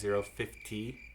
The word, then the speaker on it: 50 Cent: at the same time, Fiddy cent released his single for... [S] Don't you mean 50 cent? (Pronounced fifty cent not fiddy cent) 50, fif-ty cent.